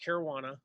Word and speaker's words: Caruana: yes, it is pronounced Caruana. When I asked her like the very first time training, I was like, "How do you pronounce your name?" She's like, "It's like marijuana."